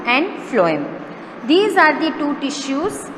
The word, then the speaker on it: phloem: Remember its pronunciation, it is xylem and phloem.